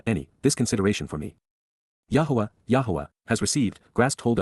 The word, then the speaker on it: Yahweh: two more than find in both tets combined Yahweh Yahweh the proper pronunciation of the name of elah God as